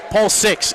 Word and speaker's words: Paul VI: nation 78-70 in overtime Paul 6 excuse me web Wellman giving me the correct pronunciation and correction there as those the